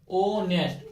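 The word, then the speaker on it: honest: एच हमारा क्या है? साइलेंट है। एस से स्टार्ट नहीं हो रहा। किससे हो रहा है? ओ से स्टार्ट हो रहा है। ओ नेस्ट ओ नेस्ट तो ओ किस में आ रहा है?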